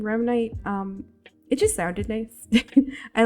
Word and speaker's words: Remnite: it's pronounced only as Remnite. Its general meaning is tied to the term rem, rapid eye movement, and the word night as slang for night. The reason why I went with the name Remnite, it just sounded nice.